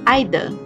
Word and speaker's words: either: number five either again this has two pronunciation the British and American pronunciation we are using the British pronunciation which is either either repeat after me either